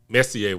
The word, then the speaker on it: Messi: And that's not how you say his name. He's a Spaniard. Dummy. Nigga, Messier played hockey. For real. That was a hockey player. It's Messi.